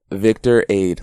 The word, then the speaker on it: Victorade: Victor Aid, like Gatorade, but Victor Aid.